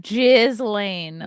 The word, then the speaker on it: Ghislaine: And I like your pronunciation, Ghislaine.